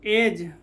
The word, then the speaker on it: edge: वैसे ही HEDGE, हेज, डी का उच्चारण नहीं है। उसी प्रकार EDGE क्या हो गया? एज।